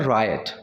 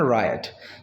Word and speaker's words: riot: अब देखिए दंगों को हम इंग्लिश में बोलते हैं रायट, इसकी जो प्रोनाउंसिएशन है ना RIOT, इसकी प्रोनाउंसिएशन रायट, ठीक है, रियोट वियोट नहीं बोलना, रायट, ठीक।